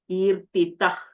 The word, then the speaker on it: कीर्तितः: So kirtitah, because there is a kakara after the visarga, we will not be pronouncing the visarga completely. We will be using a ih sound.